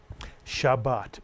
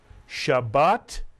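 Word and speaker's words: שבת: This is the word Shabbat, Mitsuyan. I'll remind you it has two vowels, therefore it has two syllables.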